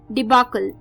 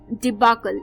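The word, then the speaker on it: debacle: इसी के बाद जो 16th यानी कि लास्ट वर्ड आ रहा है शाम को दोस्तों, वो भी एक अच्छा वर्ड है, डिबाकल. डिबाकल ये एक नाउन है दोस्तों.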